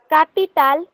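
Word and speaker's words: capital: स्वतःहून वाचू का हा वाच वाच औदुस बांको कापिताल तिने दीक्षियो नारियो परफेक्ट बरोबर मग गायत्री ऑक्टोबुस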